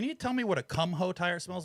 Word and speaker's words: Kumho: say it right how do you say it Kumho oh what did I say what I say